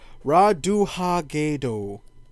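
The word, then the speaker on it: Ratonhnhaké:ton: In Assassin's Creed 3, you take the role of Connor, or as he's known as Mohawk Village, Ratohatatatone. Raduhagedo. That's how you pronounce it.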